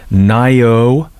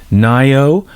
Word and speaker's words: Ngaio: Anyway, at least I got Nio Marsh. I think Nyo. It's a Maui name apparently. We the G is silent.